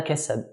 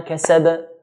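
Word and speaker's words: كسب: Then we have the word ma kasab. Is it wa ma kasab or wa ma kasaba? Kasaba. Which one? It's the second one.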